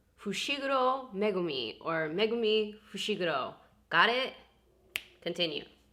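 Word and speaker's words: Fushiguro Megumi: back because i couldn't leave myself without saying fushigoro megumi or megumi got it continue um but one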